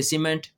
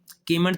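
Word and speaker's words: cement: जैसे सी के बाद ई आया तो अब इसको क्या पढ़ेंगे? सीमेंट। कीमेंट तो नहीं ना कहेंगे।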